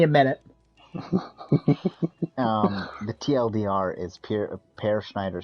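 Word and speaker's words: Peer Schneider: Per Schneider. His name is spelled Peer. Yeah, it's pronounced Per Schneider.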